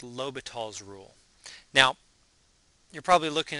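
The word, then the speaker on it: L'Hôpital: No, there's no S, although I will tell you that some history books actually do spell his name with an S in the middle. But anyway, pronounced L'Hopital.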